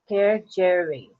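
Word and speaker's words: kedgeree: See this for the pronunciation. Kejiri. Kejiri. Kejiri is the pronunciation.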